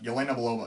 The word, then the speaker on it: Yelena Belova: Of course, the standout character from this film is, of course, Yelena Belova. Did I pronounce that right? Yeah, Yelena Belova.